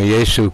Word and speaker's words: Yesu: It was not, had no J in it at all. So, praise Yesu, hallelujah.